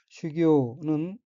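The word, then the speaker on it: 修行: 다음 어휘는 한자가 한국어로 수행이며 각기 닦을수, 단일 행자이고 일본어로는 슈교라고 읽으며 슈교는 수행이란 뜻의 명사 또는 수루 자동사 및 타동사입니다.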